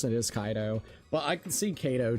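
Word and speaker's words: Kaito: I I see the name and I say it like Kato. So you say Ko. His name is Kaido. The way that you do pronounce it is Kaido.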